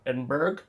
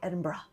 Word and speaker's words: Edinburgh: And because we've been told by Scottish people that's how to say it.